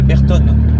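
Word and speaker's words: Bertone: Et comment ça se prononce Ça c'est Berton, Berton?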